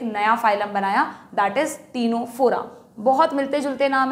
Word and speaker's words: Ctenophora: phylum बनाया that is टीनो फोरा बहुत मिलते-जुलते नाम है सी से सीलेंट्रेटा सी से टीनो फोरा हालांकि यहां सी साइलेंट है इसलिए नीट में गलत